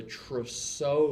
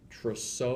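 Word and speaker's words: Trousseau: spasms the other sign is known as the tro sign tro sign and that I believe that's t r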